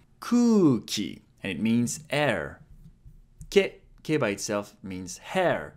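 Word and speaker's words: け: Ke. It's pronounced like ke in kelp.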